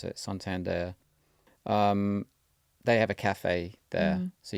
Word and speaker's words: Santander: I've always said Santander, but Okay, I think that's how you are meant to pronounce it, Santander.